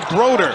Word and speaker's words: Brodeur: it's spelled brodur if you're a hockey fan you think it's a great goaltender march and brodur but it's pronounced broder please come in but in coaching their space